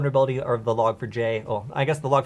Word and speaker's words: Log4j: um in my opinion it's not log forge it's log for j j gets looks yeah the j is capitalized too so i would say